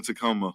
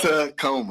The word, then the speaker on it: Tacoma: A Tacoma. My homeboy got a Tacoma. Them definitely a taco. It's a Toyota Taco. See, now you can't say it right. He done fucked it up. Tacoma.